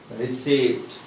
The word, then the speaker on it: receipt: We should not pronounce this word like a receipt. Its pronunciation is C here. This is E sound, this is and E sound, longer E. So that's why it is receipt. This word pronunciation is receipt.